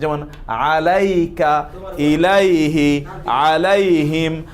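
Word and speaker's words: إليه: তারপরে আসি আমরা ইলা এবং আলা, এই শব্দ সর্বনামের দমির পূর্বে আসলে এদের ইয়া উচ্চারিত হবে।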